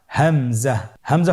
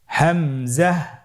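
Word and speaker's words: همزة: হামজা পরবর্তী হরফটির নাম হামজা হামজা হরফটি উচ্চারণের ক্ষেত্রেও বারিক করে উচ্চারণ করতে হবে এবং এখানে টেনে পড়া যাবে না দ্রুত পড়তে হবে আপনারা আমার সাথে বলুন হামজা জাহ হামজাহ হামজা হরফটি উচ্চারণের স্থান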